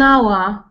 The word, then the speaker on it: hour: miles uh uh an hour yeah an hour yeah an hour an hour because H is silent again m is Now Pronounce